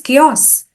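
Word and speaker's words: chaos: k a y o o o s s Kos now these have these kind of words have unexpected pronunciation that might trip people up when they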